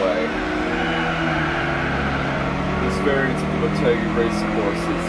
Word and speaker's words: Motegi: also a very easy race yeah motegi that's how you pronounce it by the way i forgot to